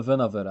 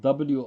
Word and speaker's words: Winawer: It's spelled W-I-N-A-W-E-R. Winawer. Or for someone who wants to pronounce it the English way, the Winawer.